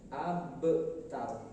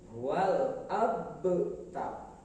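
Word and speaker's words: الأبتر: Al-abtar, di mana yang menjadi harus diperhatikan yaitu ada huruf ba sukun. Huruf ba masuk ke dalam huruf qalqalah. Huruf qalqalah ada 5: qaf, ta, ba, jim, dal. 5 huruf ini kalau disukunkan maka harus memantul, termasuk huruf ba ini. Abtar, tidak boleh wal abtar. Yang betul wal abtar.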